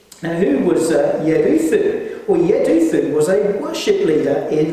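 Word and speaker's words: Jeduthun: And you pronounce his name, Yeduthun, Yeduthun.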